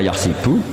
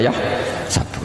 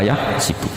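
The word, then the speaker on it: يحسب: Karena dalam qiraah asab ada yang baca yahsibu, qiraah kita baca yahsabu. Tapi guru-guru kita kalau ngajar fikih itu bacanya yahsibu. Tapi kalau baca Quran yahsabu. Ya kan Quran kita kan ayahsabu Allah yaqdiru alaihi ahad, bukan dibaca ayahsibu.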